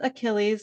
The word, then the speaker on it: Achilles: My last name is Achilles, which is just like the Achilles tendon or the Greek mythological hero Achilles.